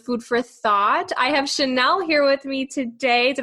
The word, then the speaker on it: Shanelle: another episode of food for thought i have chanel here with me today did i pronounce that right yes you did okay perfect